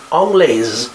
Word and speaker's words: anglaise: To make it feminine singular form, we add an E at the end, Anglais, and you pronounce the S as well, and it means English.